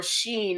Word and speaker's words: Shein: How many of y'all have ever, I know you've heard of Shein, or Sheen as I've heard it pronounced, but how many of you have ever ordered anything from Shein?